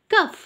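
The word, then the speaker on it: calf: को क्या कहते हैं baby of काउ इज कफ सी ए एल एफ L silent रहता है कफ बेबी ऑफ डियर इज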